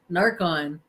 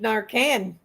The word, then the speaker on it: Narcan: Narcon. In the city, you need to have Narcon. Here, you need Narcan.